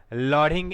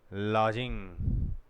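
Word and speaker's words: lodging: ही वाज लॉडिंग इन a house, वह एक घर में किराए से रहता था। लॉडिंग, लॉजिंग, डी आएगा लेकिन डी साइलेंट रहता है।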